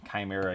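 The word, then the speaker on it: Khymeria: Look up the um It's spelled weird, but it's like K H Y M E R I A. Chimera.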